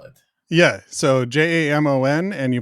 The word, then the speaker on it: Jamon: But I think my mom, from what I understand, my mom thought maybe Jamon would not be mispronounced as often because it looked a lot more like Jason.